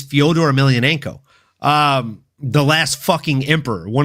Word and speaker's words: Fyodor Emelianenko: the name he doesn't even know how to pronounce. Like, it's Fyodor Emelianenko, the last fucking emperor, one of the greatest heavyweights to ever grace any form of mixed martial arts fighting, folks.